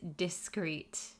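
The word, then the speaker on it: discrete: words are easily confused they are homophones that means they have the same pronunciation discreet versus discreet oh my gosh why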